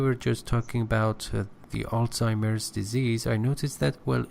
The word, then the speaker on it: Alzheimer: you see a sign pronunciation is Alzheimer Alzheimer yes is a Germanic word you know it's Germanic